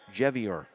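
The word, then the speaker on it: Dziewior: duhawks jebeora will serve interesting spelling on that last name d-z-i-e-w-i-o-r pronounced jevier they'll go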